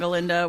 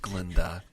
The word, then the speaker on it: Glinda: funny between Elphaba and Galinda, where it's more like physical comedy kind of thing. Glinda. She's just Glinda. Don't give her that extra syllable.